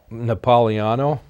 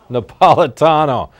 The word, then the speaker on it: Napolitano: We're going to close with a video by Judge, I'm going to mess up the name, Napoliano. Napolitano, getting yelled out from the control room.